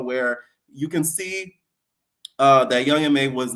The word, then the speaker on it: Young M.A: First thing I wanted to get into, guys, is Young Ma. Let me stop. Listen, that's just how I've always pronounced it. A lot of people always used to say Young M.A.